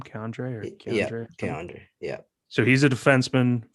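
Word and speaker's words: K'Andre: I read that Keandre Miller, is that how you say his name? Keandre or Yeah, Keandre? Keandre.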